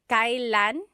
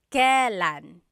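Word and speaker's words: kailan: It's pronounced kylan. Kylan, but you will often hear it pronounced Kellan.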